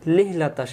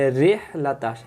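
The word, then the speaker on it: رحلة: রিহ রিহ এই অক্ষরটাকে অনেকেই ভুল করে। আমি মনে করি 100 জন যদি মানুষ এই সূরা পড়ে সাধারণত, সেখানে 80 জনে মনে হয় আমরা বলি ইলাফিম লিহলাতাশ শিতাই। এখানে রিহলাতাশ, রি রজের রি, আর যদি বলি লি লাম হয়ে যাবে।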